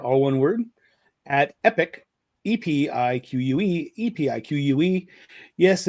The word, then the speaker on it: Epiq: E pi q. Epiq. Yes, it's pronounced epic, not a peak or auk or anything like that.